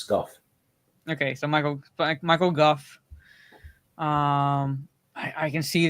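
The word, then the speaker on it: Michael Gough: It's pronounced Goff. It's, uh, it's, uh, it's Go. If it's Dutch origin, uh, if it's Scottish Scottish, it's Goff. Okay. So, Michael Guff.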